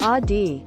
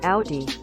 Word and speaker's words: Audi: one chick from h-i-m-y-m i'll always pronounce audi like a oddie and not how it's supposed to be pronounced like audi when i was a